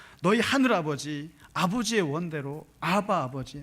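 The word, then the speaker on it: אבא: 이 예수님이 쓰셨던 아버지가 원어로 말하면 아바예요. 아바. 아람어를 쓰셨거든요. 그러니까 이게 마가복음에 그게 나와요. 예수님이 썼던 입에서 나온 발음이 바로 아바였어요. 아바를 150번 이상 쓴 거죠. 근데 이제 이 아바라 그러니까 어떤 신학자가 이것을 아빠라고 번역하는 바람에 대한민국 모든 강단에다 이게 아빠인 줄 알아요. 근데 그거는 잘못됐다고 밝혀졌고, 중요한 것은 예수님이 원어로 썼던 말이 아바, 아버지예요.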